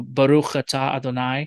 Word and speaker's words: Baruch: a prayer you know baruch blessed is the lord um and that's right it's a k sound at the end because the the word